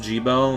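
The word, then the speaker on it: Gebel: It's pronounced Jibo.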